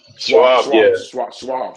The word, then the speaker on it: Schwab: Not E-Trade, Fidelity, or the other one I think is Schwab's. Schwab. Yeah. Did I say it right? Schwab, yeah. So yeah, Charles Schwab, yeah, who I'm gonna fuck with.